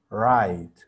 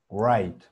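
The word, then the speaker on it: write: tu libreta y escribir se pronuncia right mucha gente se conflictúa porque tiene una doble uva está gramaticalmente tiene una w y mucha gente dice wright raya second con la u wright y el tamal lo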